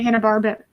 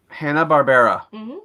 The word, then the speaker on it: Hanna-Barbera: It was that style, especially in the Hanna-Barbera. I messed that up. How do you pronounce that? Hanna-Barbera.